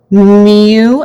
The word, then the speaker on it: mu: we have our population mean which we use mu mu is how we pronounce it but it's this like greek letter